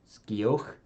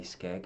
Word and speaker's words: Skeg: Is it Skioch, Skeg? But I would say Skeg, as I was corrected by one of their band members once when I said their name wrongly.